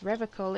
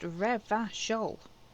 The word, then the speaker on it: Revachol: And yes, Revicol is pronounced Revachol.